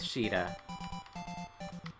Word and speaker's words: Sheeta: them, most likely with Sheeta. I know it's pronounced Sita, but in this game they added the SH, so it's Sheeta here.